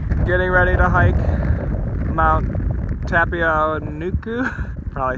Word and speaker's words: Tapuae-o-Uenuku: Tapuae-o-Uenuku. Tapuae-o-Uenuku.